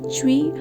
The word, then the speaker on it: Chui: Chui, pronounced like chui with a forceful exhale, which is associated with the kidneys.